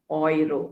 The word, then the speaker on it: Euro: body part okay then when e and e and u are combined together the pronunciation is oi okay oi so uh oy ropa so germany or germany is in europe right so germany is in europa europa is the continent and the currency is oiro is pronounced as oi true okay and then